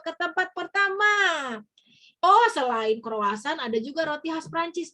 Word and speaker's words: croissant: makan rotinya dulu ya ini tulisannya croissant tapi kalau orang Perancis bacanya bukan gitu ya bacanya Kroasia Kroasia ya jadi beda kalau